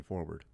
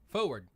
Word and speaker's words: forward: Text says, why does Jason never pronounce the first R in forward? Forward. Forward?